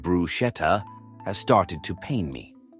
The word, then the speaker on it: bruschetta: I studied Italian for 3 years, and the amount of people who call brusqueta by way of saying bruschetta has started to pain me. It's actually pronounced brusketa.